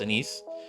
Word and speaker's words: Anis: Some people are call her Anis, or some other forms of that name because they can't pronounce it right, but it's Anise.